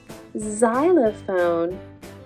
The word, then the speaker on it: xylophone: it must be xylophone xylophone is spelled with an X that says Z xylophone usually X says like box this is a box open the box close the box box but today X Says Z next we have the